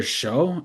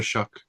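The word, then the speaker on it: Shough: Tyler Show. I don't even know how to say his last name. Tyler Shuck. It's not spelled like that, but that's what that Oh, I thought I was like, damn.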